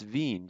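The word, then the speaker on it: Wien: the town of vienna because it's in german it's veen v-i-e-n um i mean w w i e n v so but but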